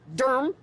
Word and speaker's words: Durham: We are in Durham, D-U-R-M, as they pronounce it here.